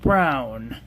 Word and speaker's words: Bruijn: That's pronounced brown.